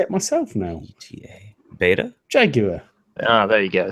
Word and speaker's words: beta: It's beta because the Greek pronunciation is vita.